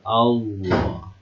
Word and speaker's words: Allah: Kapan lafaz Allah ini dibaca tebal ya? Lihat huruf sebelumnya. Kalau huruf sebelumnya berharakat fathah, maka dia tebal. Allah.